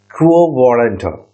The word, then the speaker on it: quo warranto: Now we are moving to the last and final writ, and that is quo warranto. So how it is being pronounced?